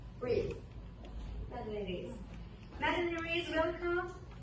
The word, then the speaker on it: Rees: Am I pronouncing it right? Rees.